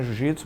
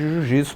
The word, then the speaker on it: jiu-jitsu: era um pouquinho diferente não sei se era jutsu jutsu era sem ue no antigo é mas a gente pronunciava isso com ih acabou ficando jiu jitsu quando a gente foi